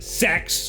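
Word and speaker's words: CeX: We went to Sex, which is apparently how you pronounce that, which is basically a computer pawn shop.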